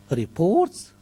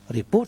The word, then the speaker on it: report: of course, for example, the word reports has two pronunciations, report and report. And of course, British people know how to use the right stress. And the right stress is very important in distinguishing between a verb and between a noun.